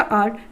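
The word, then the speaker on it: hour: Next है आपका आर, तो यहाँ पर भी क्या है, क्योंकि एच क्या है, साइलेंट है, एच की साउंड नहीं है, वोवल की साउंड है, तो हम यहाँ पर एन लगाएंगे।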